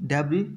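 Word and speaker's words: debris: if dirt और डेब्री, dirt गंदगी, डेब्री यानी एस साइलेंट होगा, ठीक है जी, मैल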